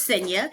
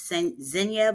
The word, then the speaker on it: Xenia: So, my name is SA. Um, most people will see it and they would think that because it's spelled with an X, they would think it's sena, but it's actually sa and the name the